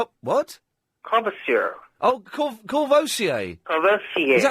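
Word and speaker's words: Courvoisier: Two, two cartons of kverasur. What? Oh, corvosier.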